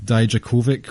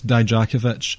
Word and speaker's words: Dijakovic: Dominik Dijakovic, which is the worst way to ever pronounce Dijakovic I've ever heard in my life. NXT, that is an absolute failure on your part. Get that sorted. It's Dijakovic. It rolls off the tongue a lot better than Dijakovic.